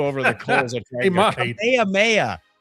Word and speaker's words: Kamehameha: Kamehameha. Oh, Kamehameha. And that's the American pronunciation.